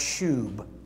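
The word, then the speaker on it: שוב: The Hebrew word for restore is, I think it's pronounced shub.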